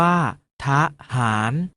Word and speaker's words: ทหาร: วิสรรชนีย์ ปรากฏ ให้ เห็น เวลา อ่าน จะ ออก เสียง อะ กึ่ง เสียง เช่น ทหาร ออก เสียง ว่า ทหาร ถนน ออก เสียง ว่า ถ้า ถนน ฉลาม ออก เสียง ว่า ฉาก หลาม ถนน ออก เสียง ว่า ขนุน เอา เมล็ด ออก เสียง บ้า เมล็ด เรา มา ออก เสียง